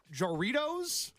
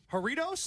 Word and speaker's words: Jarritos: on the pronunciation because I don't know how to say it joros good Lord no it's haritos horitos am I right Kenzie it's horitos yeah it's horitos but like when you